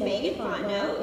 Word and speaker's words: Megan Fontenot: My name is Megan Fontenot. It doesn't look that way, but that's how it is pronounced.